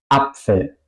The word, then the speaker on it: Apfel: S se pronuncia como Pfeffer. No voy a decir algo como Pfeffer. Yo digo Pfeffer. Apfel.